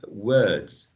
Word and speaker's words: words: uh is words words i know you see the spelling and a letter o right but the vowel is uh words words the other words cut